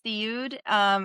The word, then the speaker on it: Seoud: So I see it as Seoud. It's just something I got used to over time. It was just easier to pronounce growing up in America, and immigration messed up our last name anyways. So like the pronunciation kind of is messed up the way it's spelled legally for me. So, but when I go back to Lebanon, I go off of the Saoud.